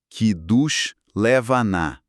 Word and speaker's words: Kiddush Levanah: Sim, a pronúncia indicada seria algo como queid levaná, com a ênfase na última sílaba de cada palavra.